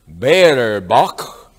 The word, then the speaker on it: Baerbock: I said, do you think it's a good idea that your foreign minister, Baerbock, did I pronounce that correctly?